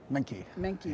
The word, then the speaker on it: Manky: Manky, yes. Sorry, with Fortinet. And since I botched the pronunciation of your name, why don't you introduce yourself?